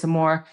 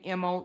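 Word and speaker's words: Moe: Mora?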